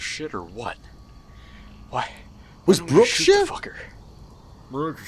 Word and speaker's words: Brookshire: Speak with Brookshire. Why does he say his name Brookshire? Surely it's Brookshire.